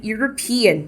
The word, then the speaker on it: European: natal mais uma vez é o rins e European ele é um europeu próximo caso Atlantic Ocean